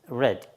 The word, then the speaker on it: read: of free alright okay the same spelling but it's pronounced red okay Quran is being